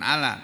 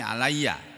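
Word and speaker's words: عليّ: perkara yang hunna ketiga-tiganya bukan ala tapi alayya ada tiga perkara yang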